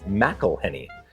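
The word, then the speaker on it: McIlhenny: ask the front desk ow his name is pronounced and it's mcelhenney so it says here in 1859 Edmund mcelhenney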